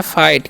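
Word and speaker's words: fight: आई जीटी है तो इस हम पढ़ते हैं फाइट क्या पढ़ते हैं फाइट फाइट मतलब क्या होता है लड़ना होता है फाइट मतलब लड़ना होता है ठीक है जीएच यहां पर साइलेंट होता है याद रखना है नेक्स्ट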